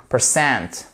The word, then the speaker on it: percent: The teacher said, all right, that 80%, voyez, si vous avez votre apostrophe ici, ça signifie que vous avez un accent tonique juste ici. Percent.